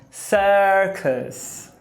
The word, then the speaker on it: circus: Porque a tônica é a primeira sílaba. Sa. E a segunda é átona. Cus. Então, cuidado para não falar circus com U, porque você está vendo U. É um schwazinho porque está em sílaba átona.